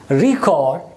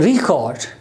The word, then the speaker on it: record: If this word is used as a noun, it's record. Record. And here when this word is used as a verb, then the stress is on the first syllable, it becomes record.